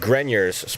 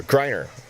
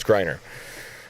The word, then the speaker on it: Greiner: I was corrected on Germany's Dominic Grenier's pronouncing of the last name, or Greiner. I was saying it completely wrong. It's Greiner.